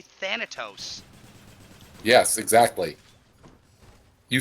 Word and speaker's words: Thanatos: refused it yes well that's because that's how they say it in the game they say thanatos yes exactly you said